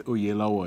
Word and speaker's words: Oyelowo: Because you actually sounded like a Yoruba person. So it's Oyelowo is how you actually would say it in Nigeria.